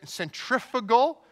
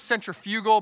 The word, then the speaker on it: centrifugal: Now, I also remembered that there was this force called, I'm going to pronounce it the way the Americans pronounce it. Apparently, it's centrifugal. I thought it was centrifugal, but apparently that's British, so I don't know.